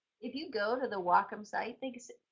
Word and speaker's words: Wacom: You know what makes me people mispronouncing Wacom. If you go to the Wacom site, it's they actually people who are on